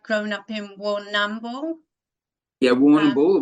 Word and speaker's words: Warrnambool: We normally don't use the AM of the word, like the letters. So it's just you go Warrnambool. So you just go Warrnambool. If you phonetically sound it out, it sounds like Warrnambool. But yeah, it's like Melbourne rather than Melbourne.